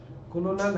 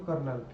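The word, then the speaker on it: Colonel: major lieutenant कर्नल कर्नल कॉलोनल ऐसे तो लिखने में कॉलोनल है स्पेलिंग ध्यान रखना लेकिन बोला जाता है इसको कर्नल ब्रिगेडियर मेजर जनरल आठवी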